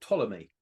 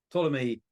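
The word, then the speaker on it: Ptolemy: a a Roman astrology called Tommy spelled PT o l m y Tommy silent P at the beginning Tommy wrote a book called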